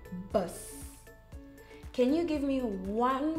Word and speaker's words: bus: The U is pronounced differently in Afrikaans. So in English, you say bus. In Afrikaans, you say bus.